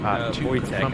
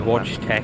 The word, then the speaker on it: Wojtek: actually say Wojtek, everyone used to say Watch Tech or whatever.